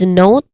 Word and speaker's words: note: Here, note has a clear O diphthong sound. Note. And there's a silent letter also, because we do not say it as note, but note. So the silent letter is letter E.